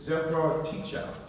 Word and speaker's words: Zephyr Teachout: is Zephyr Teachout. Did I pronounce it correct?